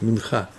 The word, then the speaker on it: минха: Ну, нужно говорить минха. Просто трудно сказать мне с ударением, мы привыкли говорить минха.